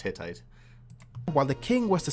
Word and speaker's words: Hittite: the world was the hitita Empire from over 1 500 BC where although he says in English it's usually pronounced hittite while the King was